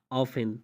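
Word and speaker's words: often: तो आप कहते हैं फासिन, लिसन, हैसिन, ऑफिन, तो इन चारों मिसाल में आप देख सकते हैं कि टी के बाद ई एन आया हुआ है, तो यहाँ पे टी को साइलेंट किया जा रहा है, खामोश किया जा रहा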